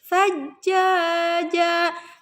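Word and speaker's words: ثجاجا: Sa, kalau sa itu ini ujung lidahnya digigit sedikit, sa ya. Sajjaja. Nah, ja-nya dibacanya panjang dulu, terus ditahan karena ada tasydid.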